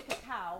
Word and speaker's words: cacao: We are going to do cream de cacao or cocoa.